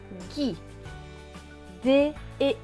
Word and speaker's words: guide: Avec le I, cela va donner Gui. D et E.